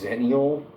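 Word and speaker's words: Xennial: So, it's zenial. It's only pronounced with a Z because X is Z in Greek or whatever the I don't know.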